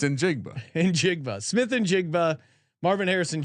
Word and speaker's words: Njigba: It's Njigba.